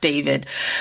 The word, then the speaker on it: D4vd: He's like a singer, but his name's The guy David. they found the dead body in his car. Yeah. So Okay. it's spelled D4VD. It's pronounced David.